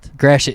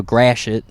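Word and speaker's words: Gratiot: Grass Grashet. It's spelled G R A T I O T. So it's French, but American trying to say French. So Grashit. Grashit.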